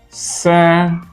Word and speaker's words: circumstance: Circumstance, first syllable.